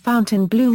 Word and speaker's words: Fontainebleau: The local pronunciation of the hotel's name is the anglicized Fontainebleau rather than the normal French pronunciation of the word.